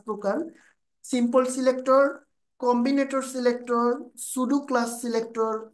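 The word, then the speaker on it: pseudo: আমরা সিলেক্টর দেখতে পাচ্ছি 5 প্রকার: simple selector, Combinator selector, সুডো class selector. এটার উচ্চারণটা কি করবেন? সুডো class.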